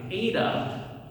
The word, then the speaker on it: eta: Now ADA is going to be like the Canadian A. You know how Canadians say A.